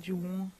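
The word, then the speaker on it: Olajuwon: that's yeah dein Devin my name is spelled o l a j u w o n my name means my full name means I deserve happiness H Jan that's how you say my name in Nigeria I've always said my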